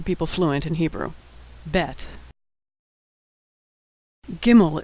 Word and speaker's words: gimel: fluent in Hebrew bet gimel is pronounced G as in good never like in general always like in good like most letters it's